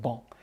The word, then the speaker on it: banc: in french for a bench is ball b a n c pronounced ball and the origin of